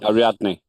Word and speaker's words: Ariadne: Ariani made some Ariadne. Ariadne pronounces that name gets me every time. It's very easy. You just read it the way it's spelled.